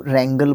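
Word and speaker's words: wrangle: To dispute angrily, उसको रैंगल बोलेंगे। हाँ जी भाई साहब, डब्लू के बाद जब आर आता है तो डब्लू को प्रोनाउंस नहीं किया जाता है, मतलब बोलने में नहीं आएगा डब्लू।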